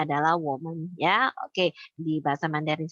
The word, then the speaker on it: 我们: Bacanya adalah woman, ya.